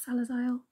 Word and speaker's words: Salazzle: of the Pokemon salazzle he says salaz but it's spelled salazzle I don't know not one